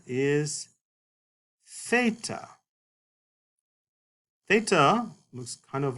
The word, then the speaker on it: theta: And theta is a TH sound, whereas in English we need two letters to indicate this pronunciation, TH. In Greek, you just need the one letter, theta. Now, I do want to point out, it is a TH sound, but it's like the TH in think, or thing.